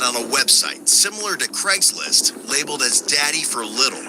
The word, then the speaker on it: Craigslist: a website similar to Craigslist labeled as Daddy for Little. According to the ad... Sorry, I've got to interrupt straight away, yeah? It's pronounced Craig's List.